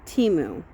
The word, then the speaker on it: Temu: that timu order and do you say timu TAMU or TAMU because I actually went online to see how it's supposed to be pronounced and they repeatedly said say teu it was just that one commercial that said